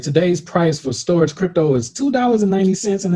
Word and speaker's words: Storj: is what is storage storage pronounced storage is an open source